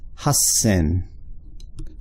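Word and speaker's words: 八千: exception 8,000 oops right the wrong character it's pronounced HUS sin so similar way to plucker 8,000 is huh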